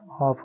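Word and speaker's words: half: तो हम क्या करेंगे यहां एल तो साइलेंट हो गया ए नहीं पढ़ एल नहीं पढ़ेंगे तो सी ए एफ क्या हो गया कफ हो गया एच ए एफ हाफ हो गया कहने का मतलब बच्चों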